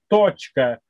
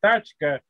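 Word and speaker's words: точка: iskajonum drugim ita tačka Non, il faut dire tochka, parce que si tu dis tachka, ça veut dire la voiture dans la langue afghane.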